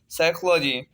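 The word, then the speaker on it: psychology: पी जो है पहला लिखा हुआ है, एन से पहले आया है तो पी जो है साइलेंट हो गया, नेमोनिया। पी PSYCHOLOGAY, साइकोलॉजी।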